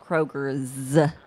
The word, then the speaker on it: Kroger: By the way, it's pronounced Kroger's. with an S.